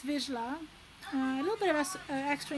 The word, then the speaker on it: Vizsla: So all together, the word sounds Vizsla. Vizsla.